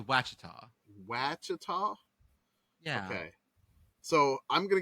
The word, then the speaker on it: Ouachita: I'm gonna say it's Wakita I love that I'm gonna say it wachita it was wachita yeah okay so I'm